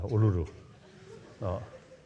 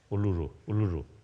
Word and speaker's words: Uluru: Just day before yesterday, I met the indigenous people around Kasa, the Uluru or something, Kasa Uluru. Difficult to pronounce. Uluru, isn't it?